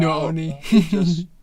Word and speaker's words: Nani: Nani.